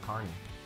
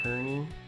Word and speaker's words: Kearney: you and answer any questions you have about Carney uh one more thing though is a lot of people pronounce it Kearney and so that's a dead giveaway that we